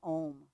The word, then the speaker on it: Om: chanting the sound of Om together, the sound of oneness. And Om actually has 4 different pieces to it. Ah, oo, and then silence. Ah, oo, silence. So if you want to